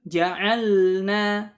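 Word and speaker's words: جعلنا: Kemudian di bait selanjutnya, wahris 'alas sukuni fi ja'alna an'amta wal maghdubi ma'dalalna. Dan bersungguh-sungguhlah ya dalam pengucapan sukun. Ya, tadi seperti pada kata ja'alna, jelaskan lamnya.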